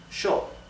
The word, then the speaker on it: yo: s h therefore the pronoun I yo is pronounced show in Argentina in the Uruguay the